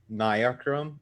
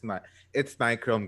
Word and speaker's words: Nichrome: Because I know a lot of people prefer Niachrome or Nichrome, however you want to pronounce it, but it's Nichrome Grim Green, not Niachrome.